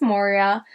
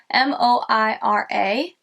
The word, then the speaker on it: Moira: But I think it's Moira, M-O-I-R-A, Moira.